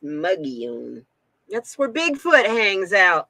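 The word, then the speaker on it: Mogollon: my gillian is how it's spelled but it's pronounced muggione that's where bigfoot hangs out in arizona that's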